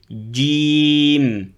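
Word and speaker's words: جيم: La lettre Jim, il faut bien fermer le milieu du palais. J, pour pas prononcer J. Donc J en français, mais en arabe, il n'y a pas. Donc il faut bien fermer le palais avec le milieu de la langue.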